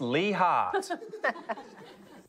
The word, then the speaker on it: Leigh Hart: Up first, his name rhymes with tree bark. It's Lee Hart.